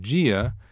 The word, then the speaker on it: dia: Notice that in Brazilian Portuguese, the initial sound of dia is G, as in the letter G. Try saying G and feel where your tongue is as compared with saying D. You will notice that the middle of your tongue is spread across the roof of your mouth, also known as the palate. The process of making DI sound like G is called palatalization.